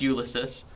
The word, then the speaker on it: Ulysis: tling isn't it ulyses UL his is pronounced ulysis spelled different ulis u l y SS i s ulysis and uh he's a